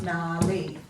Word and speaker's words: gnarly: In gnarly, you've also got the AR, making the R sound, and the Y on the end is the most common way of writing the long E sound at the end of a multisyllabic word.